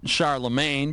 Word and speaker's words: Charlemagne: or Scar the brain Scar the brain or Charlemagne became emperor of the Holy Roman Empire around the year 800.